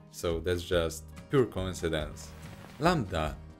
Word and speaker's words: lambda: that's just pure coincidence lambda nowadays pronounced landa it's so freaking similar